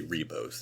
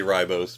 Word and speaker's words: Ribos: Now, you did it uh how it's spelled, but they clearly just say ribbos the entire time. Oh, okay. Yeah, sorry. I would assume my American mind would say ribos, but everyone certainly keeps saying ribbos.